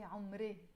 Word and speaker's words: عمري: عمري, again in Lebanese we will pronounce it more عمري. I keep saying in Lebanese, but it's a Lebanese song, but sometimes in songs we pronounce words a bit differently than how we pronounce them in real life. So instead of saying عمري, we say عمري in Lebanese with the I sound in the end.